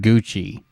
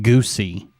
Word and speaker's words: Gucci: He couldn't even pronounce the word Gucci. He called it Goosey.